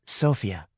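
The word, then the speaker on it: Sofia: It's Sophia. Accent on the first syllable.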